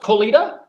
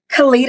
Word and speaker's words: Kalita: Is it pronounced Colita? Kalita.